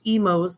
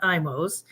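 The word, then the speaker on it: Imo's: would be the offerings of Emos Pizza it's pronounced Emos not imos um and it's uh the pizza is uh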